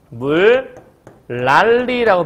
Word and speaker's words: 물난리: 자, 물난리 어떻게 발음하죠? 물랄리라고 발음하죠. 자, 왜냐? 요 니은이라는 것이 리을을 만나게 되면 이 니은이 리을을 뒤에 가져오든 니은이 앞에 리을을 가져오든 가운데 니은 이 비음은 요 유음에 비해서 힘이 약해요.